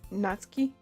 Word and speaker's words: Natsuki: other for so long nauki is pronounced natski oh yeah natski yeah you know what America I I say things an America Way which we pronouncing it on the U so it's just natuki okay I'll try and